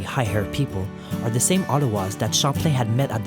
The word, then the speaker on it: Outaouais: These Cheveux Relevés, or literally high-haired people, are the same Ottawas that Champlain had met at the mouth of the French River in July. Their name in French, Outaouais, is pronounced Ottawa, and they spend the